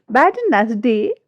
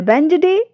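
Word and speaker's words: Wednesday: बैडनेसडे wrong है। एंड बेंजडे right है।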